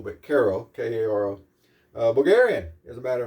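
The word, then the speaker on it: Каро: Caro, if I remember correctly, that's how you pronounce that, even though it looks like Kapo, but Caro, K-A-R-O.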